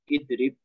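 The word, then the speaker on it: اِضْرِبْ: Bisa dibaca enggak ini? Tidak bisa. Kasih hamzah. Menjadi it. Kemudian doma belakangnya dibaca sukun menjadi idrib.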